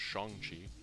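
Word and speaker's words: Shang-Chi: by the way i saw i saw uh shang chi which now having seen the movie i know is actually pronounced shong chi really liked it thought it was super fun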